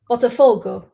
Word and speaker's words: Botafogo: Botafogo. Correct. That's what it's. Well, I would say correct as in what you put there. Yeah, so it's the stress on the four, apparently.